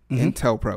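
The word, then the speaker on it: COINTELPRO: bit more about it's like inter-pol intel pro intel pro is that did i say it correctly yeah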